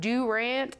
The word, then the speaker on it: Durant: He is pastor of Victory Life Church, based out of Durant, Oklahoma. Is that how you say it? That's how you say it, if you're from Durant.